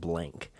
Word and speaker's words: Blanc: mel blanc or blank i i say blanc but i think i've heard somebody pronounce it blank uh is nana so